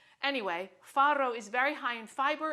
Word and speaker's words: farro: a whole grain called farro with two RS gentlemen far very good the more you roll your RS the more you love farro so farro is an